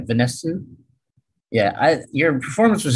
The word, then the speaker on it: Vanesu: i i thought uh tell me if i'm pronouncing your name right vanessa yeah i your performance was extraordinary and and